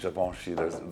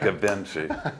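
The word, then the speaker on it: Givenchy: societ extreme see and he actually pronounced javoni the right way none of that gavinci that used to irritate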